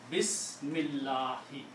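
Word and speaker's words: بسم الله: If you are going to stop, then you don't pronounce the last harakat.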